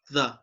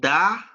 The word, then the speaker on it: the: When you're going to pronounce this article as the, you see your tongue, okay? Look, the, and your tongue is between your teeth, the. So, but when you're going to say the, when the next word, it starts with a consonant. All right, the, okay, it's not da, all right, but it's the.